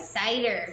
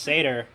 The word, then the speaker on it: Seder: thing it was called cetera cider cider I think it's but yes science pronounced Seder it's just Seder that's what it's called there was they did